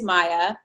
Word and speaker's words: Maye: It is Maya.